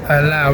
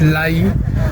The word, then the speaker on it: lei: I have been pronouncing the the currency wrong. It's not LA, it's it's lei.